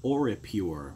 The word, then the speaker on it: Oripure: from a brand called aura pure which is spelled Ori pu r ii it's a set you